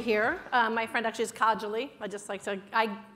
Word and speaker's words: Kajoli: My friend actually is Kajoli. I mispronounced it for years, so I just figured I'd correct it.